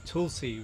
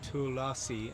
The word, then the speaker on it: Tulsi: You pronounce Tulsi as Tulsi rather than Tulasi, and you made the point that the A doesn't have a line over it, and about the pronunciation.